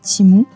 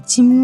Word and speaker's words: Temu: les branches comme ça c'est timou en en fait ça s'écrit temu je sais que ça se dit timou mais c'est vrai que